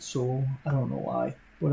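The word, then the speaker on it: SOVL: I think you still pronounce it soul.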